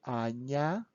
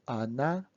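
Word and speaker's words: Аня: times this name anya pronounce it loudly yeah is important to the end anya not anna anya okay and when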